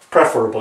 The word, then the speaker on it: preferable: The correct pronunciation is preferable, as you can see here, preferable. Not preferable, I don't even know how to pronounce it incorrectly.